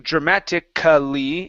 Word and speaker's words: dramatically: c like specificly okay even though we have a an a right there we do not pronounce it okay um so in this word instead of saying dramatically it's dramaticly dramatically dramatically